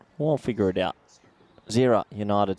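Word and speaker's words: Gżira: Gazira United? Well, I'll figure it out. Zira United. So I guess the G is silent as I'm being whispered to from my co-commentator, Nish.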